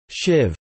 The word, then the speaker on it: sibh: bh, beta, such as sibh, libh, and doib, something not found in the rest of Connacht. These words would be pronounced respectively as shiv, live, and dofa.